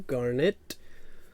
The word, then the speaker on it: Garnet: Alrighty, and that will bring us to Garnet. Rhymes with darn it.